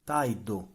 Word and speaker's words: tardo: In the Palermo dialect, when r is followed by a consonant, it's pronounced like e. The word for door porta, is pronounced poita, Or puaita. You can even add a U here, but yeah, correct. the word for late tardo, becomes. taido, Yeah.